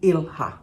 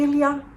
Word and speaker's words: ilha: is the ilha or I think it may be pronounced Ilia cuz I somebody mentioned and thank you for that comment that it's actually a Portuguese world word meaning Island um so it's probably Ilia and uh this is a